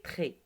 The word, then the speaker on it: trait: C'est la deuxième qu'on ne prononce pas.